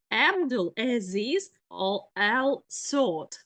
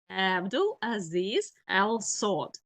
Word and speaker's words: Abdul Aziz Al Saud: And the name of this first king, um, one moment, the right pronunciation, Abdul Aziz Al Saud. Abdul Aziz Al Saud.